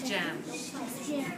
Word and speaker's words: gem: learn new words that have the soft G sound, like the word gem. Everyone say the word gem.